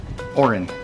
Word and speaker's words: Oren: was Orange channel Owen say my name Orange it's Owen Oren yeah but don't be angry